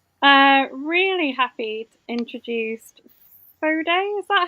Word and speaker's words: Foday: Okay, uh really happy to introduce Fod. Is that how I pronounce it?